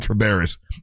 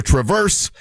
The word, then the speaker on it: Traverse: I said it right this time. I kept saying Travaris. It's the Traverse.